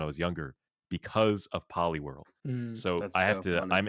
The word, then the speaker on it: Poliwhirl: something about the saying poly world i would pronounce it like poli-wol and i remember i i was motivated to learn how to pronounce my r's when i was younger because of poliwhirl so i have to i'm indebted to poliwhirl